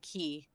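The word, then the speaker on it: χ: Yeah, the X is actually pronounced key. Oh, it's key. That's a key symbol.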